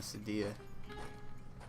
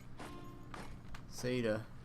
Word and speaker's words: Saida: put them over in Sadia. Saida. I think I've been calling it Sadia the whole time. It's definitely not Sadia, it's Saida. I'm sure I'm still pronouncing it wrong, but it's closer than it was, which is all that matters.